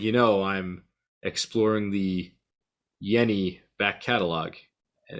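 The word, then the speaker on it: Jenny: It is pronounced Yenny. Okay, So this is no J, but Yenny.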